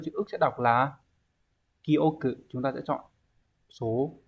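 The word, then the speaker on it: 記憶: Như vậy thì chữ ký và chữ ức sẽ đọc là kyoku.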